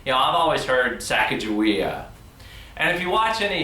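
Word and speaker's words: Sacagawea: have called herself was Saka Goa you know it sounds much more Native American than saaka jaia but she was married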